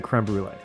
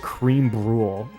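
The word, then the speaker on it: crème brûlée: You You pronounce it creme brulee. You don't You don't call it cream bulle.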